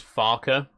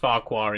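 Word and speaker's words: Farquhar: We we we did just kind of abandon the passengers just outside Farqua. Never mind. Fun fact about Farqua, by the way. It's uh it's actually supposed to be pronounced Farer.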